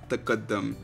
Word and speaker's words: tqdm: TQDM is an Arabic word and is pronounced taqaddum, which means progress.